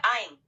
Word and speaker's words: Ain: Nama saya Ain. Ejaannya A I N.